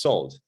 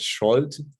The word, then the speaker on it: Szold: pronounce last name is salt as if it was written with an s in hungarian s and z together are to be pronounced as s very often i hear